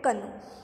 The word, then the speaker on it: canoe: CANOE इसको क्या पढ़ते हैं? कनू।